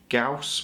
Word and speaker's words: Gauss: now through this video I'm going to say Gau as opposed to gaus which I know is supposed to be the way it's pronounced um but I always call it GS